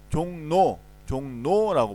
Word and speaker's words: 종로: 우리 어떻게 발음해? 종로라고 발음합니다.